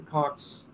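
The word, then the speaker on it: Koch: You know, people like the Cox, the you know, and I think that's how you pronounce it, K-O-C-H brothers.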